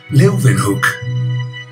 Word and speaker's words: Leeuwenhoek: Leeuwenhoek se pronuncia con una B, hook. Leeuwenhoek.